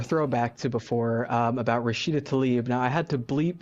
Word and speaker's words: Tlaib: Remember, pronounce it correctly, Eric. Rashida Tlaib.